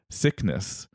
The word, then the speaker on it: Cycnus: Like have you heard that new song by Cycnus? right. Down with the sickness. But yeah, it could have been pronounced Cycnus, but let's Right. go with Cycnus.